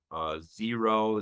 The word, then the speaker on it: Xero: There's programs like Mango and Zero, that's spelled with an X, Xero.